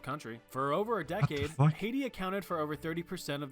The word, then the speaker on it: Haiti: on how do you prounce HEI hati oh my God it it actually is okay guess I'm wrong thought it was hiti like heti not I'm I'm um